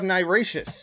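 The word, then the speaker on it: NIRATIAS: Then we have Niracious in 2021. And I wasn't really sure how to pronounce that, but I did look it up, and apparently that's how the band pronounces it.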